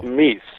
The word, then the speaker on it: Miess: Your last name is pronounced how? Miess, M-I-E-S-S.